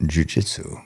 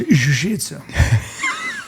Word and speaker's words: jiu-jitsu: What about jiu-jitsu? Well, first of all, it's pronounced jujisu.